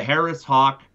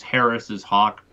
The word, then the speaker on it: Harris's hawk: But I acknowledge it's Harris's hawk, not Harris hawk.